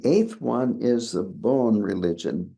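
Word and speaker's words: Bön: religion b o n and I'm pronouncing it with a Wisconsin accent I think it's kind of a combination of a p and a b pun something like that with an umlout over the O so you might be able to do a better job of pronouncing this than I am anyway here the bone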